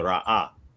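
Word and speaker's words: ראה: So the aleph represents a glottal stop, and then the ha is vocalized, right? So you got the ra'ah. So that's how it should be pronounced.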